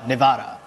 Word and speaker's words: Nevada: Roberto Lang um I believe she was from Nevada n Nevada that's how you properly pronounce that state um what would you what